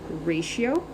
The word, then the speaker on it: ratio: was a d so here's how we pronounce ratio grab a skinnier one here first we say re like a ray of sunshine then she a pronoun and then o so it looks like radio